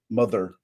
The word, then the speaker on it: MTHR: It super annoys me that they can't spell, like, this person's name is MTHR, mother. And when they say her name, they say it like the MTHR.